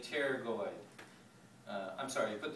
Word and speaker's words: pterygoid: right here okay uh the p is silent so you just say pterygoid uh i'm sorry you